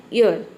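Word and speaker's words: your: योर नहीं पढ़ते हैं, कई सारे स्टूडेंट इसको योर बोलते हैं, तो योर आपको नहीं बोलना है, आपको बोलना है ईयर, ईयर, ईयर, इस तरह से ईयर, इस तरह से आप इसको प्रोनाउंस करेंगे।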